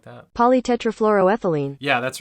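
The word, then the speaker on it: polytetrafluoroethylene: it poly tetraethylene I think something like that polytetrafluroethylene yeah that's right that's the right pronunciation Okay so it turns out that one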